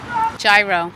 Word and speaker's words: gyro: Gyro's cool, that's how it's spelt in English, in plain English. So I'm okay if you just come up and say gyro.